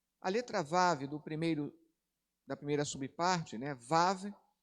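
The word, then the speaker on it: ו: Mas aqui a tradução, a pronúncia, perdão, é Vav, né? Mas ela pode ter o som de V ou U, dependendo da palavra.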